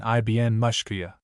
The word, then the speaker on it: Miskawayh: 10th and 11th centuries, Ibn Miskawayhi, whose name is pronounced in Persian Ibn Mushkiya.